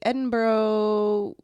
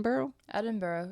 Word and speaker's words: Edinburgh: November 15 1947 voltec was given to the Edinburgh Zoo I'm pretty sure that's how you say in boro boro yeah yeah where he spent the rest of